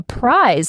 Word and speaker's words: prize: Marcus she'd won a prize at work. That one's sneaky. Price, with that clean, long I sound, is how much something costs. Prize, with that Z sound at the end, is something you win.